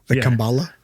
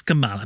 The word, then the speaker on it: Kamala: I genuinely think he just said her name wrong though. Kambala. Yeah, people. He didn't know because he's like, I know her name is Kamala, but I like Kambala.